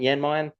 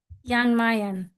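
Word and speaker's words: Jan Mayen: actually stop in Jan, which I think I pronounced that correct, Emily. Is that how you say it? Janmayan. Yanmayan. Yan Mayan.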